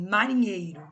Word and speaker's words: marinheiro: Então, quando eu pronuncio uma palavra que nem marinheiro, ó, vai ter uma sílaba que eu vou pronunciar com mais intensidade. Marinheiro. Então, esse nhei aí, nesse caso aí, né, faz parte aí da parte tônica da palavra.